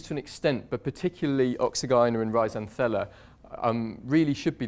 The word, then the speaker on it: Oxygyne: And then in the middle we have this very poorly known genus, pronounced in different ways, but let's call it Oxygyna, of mycoheterotrophs.